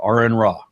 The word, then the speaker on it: Aron Ra: to that so as my name is Aaron pronounced such I said are in rock ok and I didn't